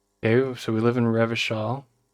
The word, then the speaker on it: Revachol: Okay, so we live in Revachol. If it doesn't rhyme, you're not pronouncing it right.